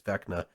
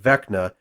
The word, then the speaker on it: Vecna: How's that pronounced? I believe it's Vecna.